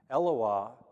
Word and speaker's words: Eloah: Eloah is how you say that in singular form.